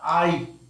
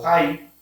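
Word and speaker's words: Hai: Sino que se topan con otra ciudad que se llama Ai o Jai. La H se pronuncia como J mayormente en el hebreo.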